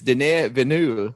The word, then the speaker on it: Denis Villeneuve: It's Denis Villeneuve.